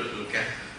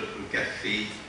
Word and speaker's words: Al Kahf: Our subject, a very important subject, is entitled Surah Al Kahf, or as the Malay pronounce it, Surah Al Kahfi.